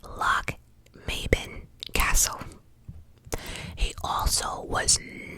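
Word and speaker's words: Lochmaben: He fell ill and remained at, I had to Google this, at pronounced Loch Maben Castle.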